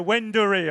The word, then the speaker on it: Wendouree: And I'm being corrected on my pronunciation here. Wendouree, of course it is.